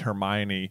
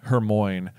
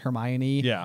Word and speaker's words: Hermione: chapter where we meet Hermione, we also called Hermione Hermoine for I don't know. Until the movies. Yeah. We had no idea how to pronounce it.